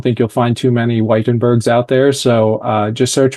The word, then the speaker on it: Wijtenburg: Yeah, and that last name is German, you told me. Sorry, Dutch. Dutch, yeah. It's Dutch. So there is a J in there.